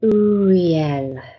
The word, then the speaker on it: Uriel: in two, Re as in real, and L as in elephant. So have a go at that. U-re-l. And what you do is just remember to take a deep breath in. And then as you release the breath, just say Uriel.